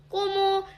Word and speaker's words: Cómo: 스페인어에서는 된소리를 굉장히 좋아하기 때문에 꼬모 이렇게 강세가 있는 부분은 꼬모 하고 된소리 발음으로 읽어주시면 됩니다.